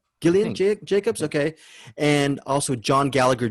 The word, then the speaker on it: Gillian Jacobs: jillian or gillian jacobs how do you say gillian jacobs gillian jacobs okay and also john gallagher jr is marty